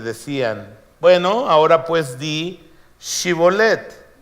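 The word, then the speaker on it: Shibboleth: no Entonces le decían Bueno ahora pues di chibolet y él decía siboleth porque no podía pronunciarlo correctamente un asunto de dialectos de lengua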